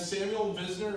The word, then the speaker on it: Samuel Visner: Samuel Visner, am I pronouncing right, Sam?